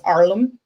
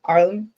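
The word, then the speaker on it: ailm: you can actually say the OM pronunciation for Pine is arlam a i m arlam so depending on what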